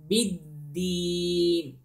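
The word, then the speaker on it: بِدِّينِ: بِدِّين. Again, the dal has also shadda, so you have to stress, you know, the sound when you pronounce the dal letter.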